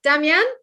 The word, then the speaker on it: Damjan: And he told me that I need to say his name like the word bunion. This was Damjan. Damjan?